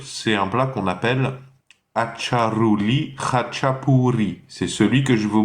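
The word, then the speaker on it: აჭარული ხაჭაპური: Le premier mot commence par Acha, A-T-C-H-A, hein, vulgaire, simplement. Acha. Ensuite c'est Ruli, donc la R espagnole, la R, le R roulé.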